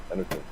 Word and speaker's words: Anutin: The law needs to be applied, or Anutin. Is that how you say his name? Anutin? Yeah. Anutin.